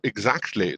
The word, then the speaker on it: exactly: yeah You don't have to say like every sound, especially not k sound. You can just say exactly.